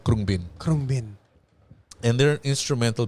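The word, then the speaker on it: Khruangbin: Okay, but it's pronounced It's Krungbin.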